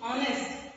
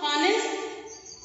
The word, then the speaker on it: honest: Honest. But do we pronounce honest? You don't pronounce it as a honest. Here H is silent.